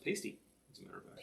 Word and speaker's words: pasty: That's actually pronounced pasty, as a matter of fact. Pasty. Oh, Cornish sorry. Pasty.